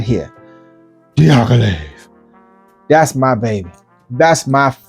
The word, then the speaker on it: Diaghilev: Now, when you say that name, you have to say it like that. You have to say Diaghilev. Okay, that's just how you have to. It has to be said like that. Diaghilev.